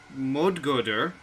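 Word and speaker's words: Móðguðr: You are looking at Modgoder, also known as Battle Wraith. Most That's a good pronunciation, Pi.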